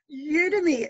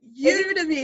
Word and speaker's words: Udemy: do you pronounce it udemy it's like a really strange word isn't it you to me it's like an online